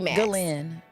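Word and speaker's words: Ghislaine: and she runs into Jizlin Max. Is it Glenn? Maxwell. I always feel like I'm saying it wrong. So, she wants to uh Glenn, that's how you say it.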